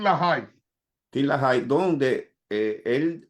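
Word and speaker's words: LaHaye: Til la se escribe til la con, pero se pronuncia la High.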